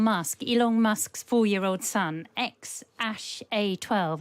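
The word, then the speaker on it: X Æ A-12: Elon Musk's 4-year-old son, Ash A12, I think his name is pronounced, although it's written a load of squiggles.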